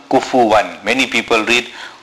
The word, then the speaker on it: كُفُوًا: There is no nasal sound on kufuwan. Many people read kufuwan ahad.